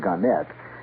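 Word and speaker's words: Gannett: Ganet or Garnet. They prefer to pronounce it Ganette.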